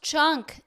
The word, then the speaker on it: Cenk: back to this and it's pronounced chunk chunky yogurt get his